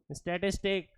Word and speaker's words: statistique: Italian word, German word STATISTIK, स्टैटिस्टिक।